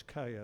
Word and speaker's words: Kaya: I say Kia, it's Kaya. It's a New Zealand.